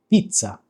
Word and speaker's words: pizza: So pa pizza and there's a double Z in there, right? So whenever you encounter a double letter in Italian, you kind of pause and then you in a way repeat that that letter.